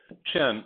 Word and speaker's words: Qin: chin look at the look at the word and hear it chin add an a to it and you have chinna pronounce an i differently the way we do and you have China China is named after